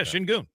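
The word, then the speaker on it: Şengün: Just remember how it's said, and don't look at the spelling. Yeah, Shingoon. Yeah. Like it's it's Shin Goon.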